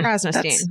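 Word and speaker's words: Krasnostein: Krnoststein.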